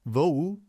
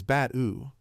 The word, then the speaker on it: Bat-U: Vo-U? He quickly corrected it. It is Bat-U.